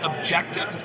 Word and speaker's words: Objectif: anything I've ever seen I believe it's pronounced objective so with this game